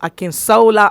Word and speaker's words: Akinsola: wants to be very gendered then you say akin sola so let me pronounce it the way he will akin sola allen mr mr allen is a realtor a